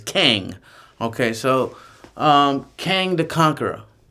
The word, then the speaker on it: Kang: Or I keep on calling him Kong because I've been to China. And Kang is like Kongor, Kong Chao. It's spelled the same way. So I tend to say Kong when it's Kang.